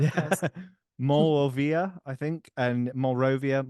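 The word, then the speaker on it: Monrovia: So the first word is MON, as in my, in French, and then Rovia, Rovia.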